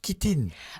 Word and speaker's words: chitine: jardin de la la kitine voilà la kitine tu me perds là alors kitinors kitine qui s'écrit chitin oui c h t i n e et qui se prononce kitin qui K i t